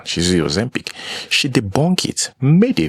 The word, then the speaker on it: Ozempic: Some people suspect that, she's using Ozempic. Yeah, that's the pronunciation. She's using Ozempic.